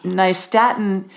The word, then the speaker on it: nystatin: to avoid it and nystatin is an antifungal that kills yeast on contact and it's spelled n-y-s-t a-t-i-n like new york and staten island so i hope i